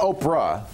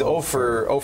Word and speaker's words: Opher: It's not Oprah. It's Ofer. How do you spell it? O-P-H-E-R, like gopher without the G. Oh. Oh, he's Ofer 4?